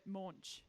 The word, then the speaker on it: Moench: up live from Skye Moench? And I am saying that right? Yeah. Moench? Yep. Rhymes with launch. Yeah. Oh, okay. I was going with morning, but Moench.